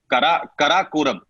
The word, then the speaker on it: Karakoram: Okay, K2, the world's second highest peak after Mount Everest, of course, is I'm trying to get the pronunciation right. It is Karakoram.